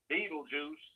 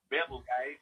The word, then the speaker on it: Betelgeuse: Beetlejuice is pronounced Betelgeuse, if you want to pronounce it another way.